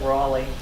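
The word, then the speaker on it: Wrauley: out with this terry w r a u l e y sounds like raleigh raleigh w-r-a-u-l-y raleigh and this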